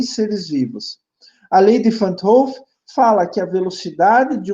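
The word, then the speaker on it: Van 't Hoff: Todos esses processos metabólicos, eles seguem o que a gente chama de lei Van't Hoff, alguns falam assim, mas se pronuncia Van't Hoff.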